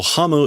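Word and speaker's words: 食む: Also, hamu is a way to pronounce um to eat. Very also archaic or old.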